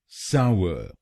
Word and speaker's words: sour: तो बनेगा सावर, सावर, साव अर, साव अर, सावर, सावर। और ये ध्यान रखिए कि हमको पहले शब्दांश पर यानी SOU पर जोर डालना है।